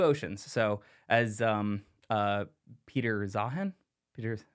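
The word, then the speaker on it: Peter Zeihan: uh and two oceans so as um uh Peter zahan Peter how how you pronounce his name I think you got it Peter zahan as Peter zahan says we're we're I love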